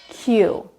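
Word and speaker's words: queue: this word is Q just like saying the letter Q out loud Q it also has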